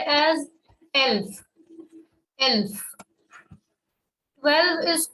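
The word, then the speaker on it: elf: 10 now moving ahead 11 is said as l 12 is called swell over o we have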